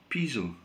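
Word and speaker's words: Poésy: Clemence Posey. Yeah, and they've got all over the Malmaison building, strike the pose. Yeah, and that is pronounced Piso.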